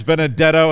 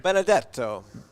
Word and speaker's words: Benedetto: Benedetto is on the production board, as always. I've never heard Sup? your last name pronounced. That was the very first time. Benedetto. Benedetto. That's right.